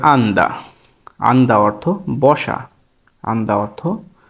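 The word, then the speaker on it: 앉다: হ্যাঁ, আসলে বসার ব্যাপারটি কোরিয়ান ভাষায় যেরকম হয়ে থাকে যে আমি যেটি লিখলাম ডিসপ্লেতে দেখতে পাচ্ছেন, এটির উচ্চারণ হবে আন্দা।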